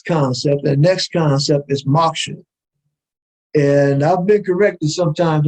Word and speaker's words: moksha: But anyway, moksha, that's how I'm pronouncing it. It's M-O-K-S-H-A. It's on your screen. Look it up.